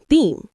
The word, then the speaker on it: theme: The pronunciation is simple, theme, just like team, but with the TH sound at the beginning.